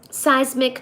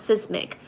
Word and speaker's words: seismic: kg per me cubed so seismic not sismic you're pronounced as a seismic I'm still going to say sismic cuz that's too too